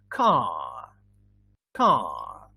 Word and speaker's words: car: in british english yeah but when it is that in the end in british english it would be inaudible inaudible means you cannot hear it so you say car car and in american english